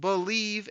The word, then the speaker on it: Bleav: It's called Believe in Lions, and that's spelled BLEAV on the Believe Podcasting Network, with both myself and Lions legendary safety Benny Blades.